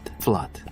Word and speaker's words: flood: 네, 우 이런 발음이 나는데 얘는 fluid가 아니에요. 얘는 좀 발음이 조금 특이해요.